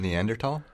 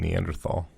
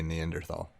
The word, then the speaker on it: Neanderthal: because people were saying Neanderthal. It's a German word and in in in German the th is a hard T sound. Interesting. Because I've always heard even science teachers say Neanderthal.